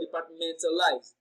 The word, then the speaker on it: departmentalize: For departmentalize, the stress is placed on the third syllable from the end of the word, which is men.